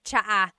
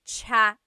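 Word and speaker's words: tsa: Polyglot said it's like the word cha. Cha. In Tagalog is T like the tea that you drink. And it's spelled T S A. Cha. Cha. That's such a Tagalog spelling. I love it. There's the TS sound and then the double vowel uh pronunciation.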